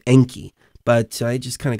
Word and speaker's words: Enki: DMT realm, he said he referred to himself as Anki, which was a different pronunciation. It's like Anki instead of Enki.